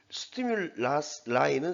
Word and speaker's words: stimuli: 이거는 stimul이라고 읽습니다. 이거는 복수입니다. 스티뮬라이는 스티뮬러스의 복수 형태입니다.